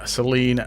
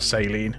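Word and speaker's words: Saleen: Super Sport the 2017 Seline S7 LM or saline depend on how you want to pronounce it 2016 spet GT Spano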